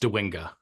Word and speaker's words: Dwinga: pronounce your last name it's pronounced dinga dinga I would have said